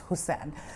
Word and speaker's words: Hocane: हुकैन मैं से कह रही हूं कि यूजली लोग कहते हैं जी इनकी जो स्पेलिंग है उसकी प्रोन्सिएशन कुछ ऐसी बनती है। बट इट्स हुसैन।